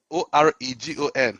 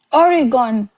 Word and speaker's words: Oregon: I, Oregon. How do you guys? Oregon.